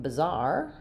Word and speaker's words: bizarre: And then for the noun bizarre, um, we have this will be represented as a schwah, an h sound, but it's also just the zar ending. So, both have second syllable stress, bizarre and bizarre.